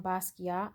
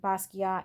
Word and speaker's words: Basquiat: his name properly um the the t is silent on basquiat at the end i did look that